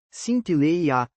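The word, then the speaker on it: συντέλεια: Para clarear algumas palavras originais que trazem luz prática, a expressão grega cintileia, pronúncia aproximada, sintileia, significa consumação, ou fim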